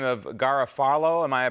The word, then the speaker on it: Garofalo: Do you, a representative by the name of Garofalo, am I pronouncing his name correctly?